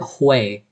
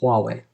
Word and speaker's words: Huawei: thought um but huawei hue i used to pronounce it hui and then i started watching a loo later and unboxed therapy and i was quite quickly corrected everybody calls it huawei and if you look at the word it